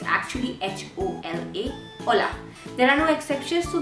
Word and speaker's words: hola: this Ola is that this H is silent okay so it put sound like Ola Ola but it's actually a Chu MV hola there are no exceptions